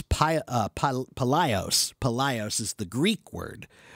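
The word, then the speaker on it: παλαιός: So we get the word pylos. No, how do you pronounce that? Let me see. Palaios, which means old or ancient, and ontology, meaning the science or study of.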